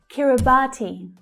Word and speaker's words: Kiribati: Kiribati. Kiribati. The third syllable is the stressed one.